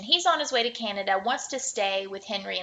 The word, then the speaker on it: Canada: Now, he's not saying it right. He's saying Kenyatta.